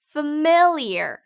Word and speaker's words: familiar: FA는 fa가 아니라 입에 힘을 빼고 F라고 발음하셔야 돼요. F. 다음 MIL은 강조되는 발음이라 모음 발음을 정확하고 강하게 발음하세요. mill, mill. 자, 마지막 IAR은 ear이라고 발음하시면 돼요. ear, familiar. 네, 단어 강세가 mill에 있기 때문에 familiar이라고 하지 않고 familiar이라고 발음하셔야 돼요.